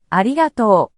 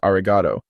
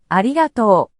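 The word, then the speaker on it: ありがとう: another example the word arigato meaning thank you is pronounced with a smooth and level intonation and don't forget about the long vowel at the end so it's important not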